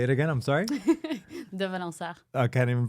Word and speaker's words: De Valensart: De Valensart. Say it again. I'm sorry. De Valensart. I can't even pronounce that.